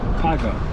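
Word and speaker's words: Pauga: Paga, right? I would call him Zach Polga Paga. Yeah. P-A-U-G-A. All right, Paga.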